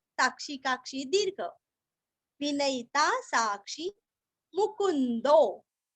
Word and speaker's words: मुकुंदो: विनयिता साक्षी मुकुंदो। मु पूरस्व आधा न और अवग्रह का दो के आगे जो है ना तो हल्का सा खींचना है।